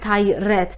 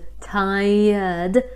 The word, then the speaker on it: tired: udolnie No i uwaga to tired to nie jest ty Red tam nie ma red w wymowie tam jest tired a nie tay Red Jezu Ile razy ja